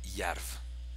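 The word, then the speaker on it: Jerv: Ensuite, il y a le club de Yarv. Je crois que ça se prononce Yarv.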